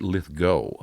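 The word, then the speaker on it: Lithgow: We pronounce it Lithgo. Okay, Lithgo.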